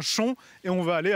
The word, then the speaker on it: Chaon: nous arrivons donc à chon à l'extrême est du loircher à 13 km de la mode bveron et une petite précision phonétique s'impose on écrit Chaon mais on prononce bien chon et on va aller